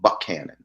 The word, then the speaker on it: Buckhannon: Well, the name of the town that he's from is called Buckhannon. That's how the locals pronounce it.